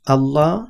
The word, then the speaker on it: الله: হরফ পাবো, এই আল্লাহ শব্দের আগের হরফে যদি আমরা জবর অথবা পেশওয়ালা হরফ পাই তখন এই আল্লাহ এই শব্দটা মুখ ভর্তি করে উচ্চারণ করতে হয়। কিন্তু যদি জের থাকে তখন কিন্তু মুখ ভর্তি করে উচ্চারণ করা যায় না। যেমন বিসমিল্লাহ, মিম লামজের মিল,